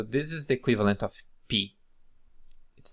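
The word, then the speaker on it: π: So this is the equivalent of P. It's then pronounced as pa, pe, pi, po, pu.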